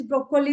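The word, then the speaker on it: Brokkoli: is uh pronunciation is broccoli only though the spelling is different the Double C is replaced by Double K but the pronunciation is exactly same as in English zukini same in there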